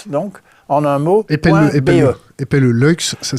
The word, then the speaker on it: Luykx: Lux, ça s'écrit.